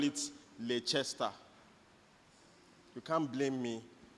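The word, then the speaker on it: Leicester: Uh man, you I used to call it Leester. You can't blame me. It's not Leester. You know when I found out is when my friend came back from the UK and he said Leester Leester spell Manchester Leester but I can't blame them too.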